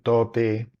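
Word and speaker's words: 唐: por la expresión del tote en donde se utiliza un kanji que representa la dinastía Tang y que se pronuncia to y también este fue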